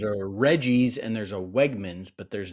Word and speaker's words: Wegmans: First of all, there is not a grocery store in Pennsylvania known as Wegner's. He mispronounced the name of the store. There's a Reggie's and there's a Wegmans, but there's not a Wegner's.